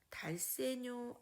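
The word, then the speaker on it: dal segno: 달세뇨라고 읽습니다. 달세뇨.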